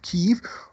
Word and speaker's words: Kyiv: Anyhow, the intense fighting continued Friday as Ukrainian troops took up defensive positions in the capital of Kyiv, or Kiev if you want to go with the Russian pronunciation, where Russian bombardment carried on.